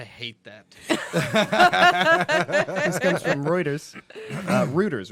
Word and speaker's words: Reuters: This comes from Reuters.